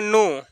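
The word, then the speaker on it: know: के एन ओ डब्लू के एन ओ डब्लू इसको पढ़ेंगे नो नो मीस होता जानना देख के के बाद ए आया है के के बाद एन और एन के बाद कोई भवेल आया है तो क्या होगा के जो होगा साइलेंट होगा के के नहीं पढ़ेंगे इसको कुनो नहीं पढ़ेंगे सिर्फ नो पढ़ेंगे जैसे और नलेज के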